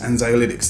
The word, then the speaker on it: anxiolytics: are medically known as anti-anxiety agents or anxiolytics anxiolytics that's how you say it now the reason